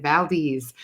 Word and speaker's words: Valdez: start by saying that's how you say it, Valdez.